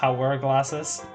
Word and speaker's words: hourglasses: say it like a hour glasses ah okay how do you say it hourglasses without the H now they're not your